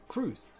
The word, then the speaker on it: cwrth: Kruth is how it's pronounced. Kruth.